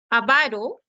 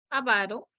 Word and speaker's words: avaro: sí por ser grave avaro avaro se acentúa en la segunda sílaba y bernar i bernar